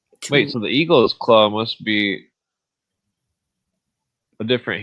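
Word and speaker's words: Igel: It is written I t e l but pronounced eagle.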